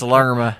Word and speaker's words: Lerma: I do speak Colombian, and that's Lerma. Lerma. Look here, Lerma, listen.